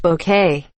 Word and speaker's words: bouquet: Even if the temperature is through the roof, it's pronounced bouquet. Okay, Mrs. Bucket.